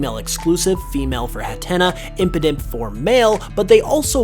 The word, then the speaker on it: Impidimp: Impidimp's name is a syllabic palindrome, meaning if you break its name up into its 3 syllables, imp, id, imp, it will read the exact same both forwards and backwards.